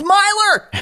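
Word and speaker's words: Myler: It's Meylor. Yep. M-Y. L-E-R. Yeah, that's how you pronounce it.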